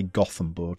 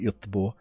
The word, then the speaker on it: Göteborg: I'm not Swedish, so I'll say Gothenburg. I think they pronounce it Göteborg.